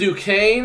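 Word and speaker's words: Duquesne: Yukon or Auburn can make it BYU and duaine that's how you say it Duke Kane uh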